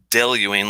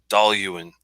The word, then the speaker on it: Dailuaine: you're looking at this it's not del Ewing like I've always said del you aim for like the longest time its doll you and doll Ewing so emphasis on the doll and then you and then just the urn at the end they're not really big